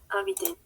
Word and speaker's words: habitent: Aquí no pronunciamos, pero sí hacemos la liaison, ¿d'accord? Ils habitent. Elles habitent. Lo mismo. Entonces, ENT no se pronuncia, ¿d'accord?